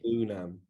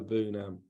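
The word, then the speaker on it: Iroegbunam: Tim's surname is like a silent G. It's Bunam. So silent G, really go for the U. Bunam.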